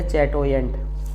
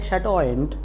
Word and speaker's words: chatoyant: नहीं आती है तो हम कहेंगे चैटोयेंट, रॉन्ग। इसको हमें कहना है शटोयेंट, यानी CH का यहाँ पर जो साउंड है वो आपको श का साउंड बनाना है, शटोयेंट।